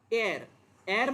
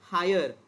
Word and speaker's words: heir: Heir मतलब पता है? It is not pronounced as higher or here. Okay, it is known as heir, male heir.